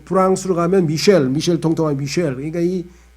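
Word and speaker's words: Michel: 그 다음에 스페인어도 미겔, 그 다음에 이탈리아로 치면 미첼, 또 프랑스로 가면 미셸 통통한 미셸.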